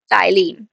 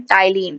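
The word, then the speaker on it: ptyalin: हम बोलते हैं यहां पर टाइलीन। ठीक है? यहां पर पी साइलेंट होता है। हम यहां पर पी को साइलेंट करके पढ़ते हैं। टाइलीन।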